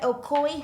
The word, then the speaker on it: Ocoee: have you here he's an associate coach at okoy high school and not only that but he's